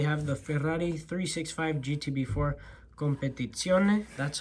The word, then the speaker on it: Competizione: We have the Ferrari 365 GTB4 Competizione. That's how you're supposed to pronounce that.